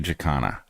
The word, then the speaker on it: jacana: canery my feeling is I'm going with our friend Laura's pronunciation even though I haven't heard anyone else pronounce it that way definitely jakana and as evidence I